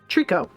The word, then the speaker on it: Treecko: post-Gen 1 that I like are Cyndaquil and Treecko. Trico, actually, is how you pronounce that.